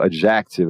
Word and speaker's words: adjective: muito comumente eu ouço adjective, a pessoa muda o som do J, muda a tônica. Adjective. Puxa para o E e faz um j e faz o C ali no K.